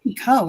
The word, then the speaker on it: Picoult: Yeah, because they don't know the T is silent.